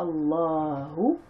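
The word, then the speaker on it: اللهُ: Dhahaba Allahu, là vous avez le alif qui ne se prononce pas, Allahu.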